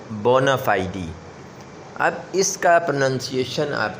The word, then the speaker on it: bona fide: FIDE لگا ہوا ہے، اس کو فائیڈ نہیں پڑھنا، ٹھیک ہے۔ امریکن تو فائیڈ اس کو کہتے ہیں، لیکن اصل میں اس کا تلفظ جو ہے ایکچوئل اس کا پروننسیشن ہے فائیڈی، ٹھیک ہے، بونا فائیڈی۔ اب اس کا پروننسیشن